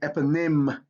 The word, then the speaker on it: eponym: if you see it in words derived from greek y usually makes the short i sound that's a if you know your phonics right so you have epinim synergy in synonym in that y has an i sound all right let's take